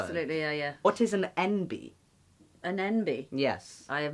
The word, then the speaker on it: enby: Yeah, it's pretty much it's spelled ENBY, because it kind of sounds like NB, like the letters N and B.